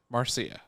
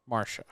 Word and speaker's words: Marcia: uh marcia lucas yeah marcia marcia marcy or marsha well it's spelled m-a-r-c-i-a marsha marcia anyway so she she